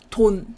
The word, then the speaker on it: 돈: And when it's pronounced as a syllable, it makes ton.